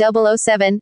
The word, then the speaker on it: 007: Bond is known by his code number, 007, pronounced 007, and was a Royal Naval Reserve commander.